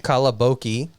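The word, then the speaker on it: καλαμπόκι: So it's spelled with an M and a P sound, and when you combine in Greek the M and the P sound, it becomes B. That's how you get the B sound.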